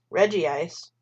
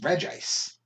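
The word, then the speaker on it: Regice: probably right reggie rock reggie ice ready steel rip red g ice yeah there's only one eye though doesn't matter it's red ice off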